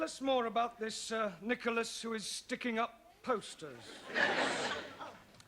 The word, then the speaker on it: Nicholas: upon a times there was a man called nickel ass that's not quite right no no once upon a time there was a woman called nickel as it's pronounced Nicholas all right once upon a time there was